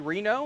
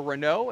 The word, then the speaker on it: Reno: have up here uh Jesse Reno or Renault is how his uh name's technically pronounced according to the family um he was